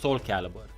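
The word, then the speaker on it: Soulcalibur: So I think this is pronounced Soul Calibur.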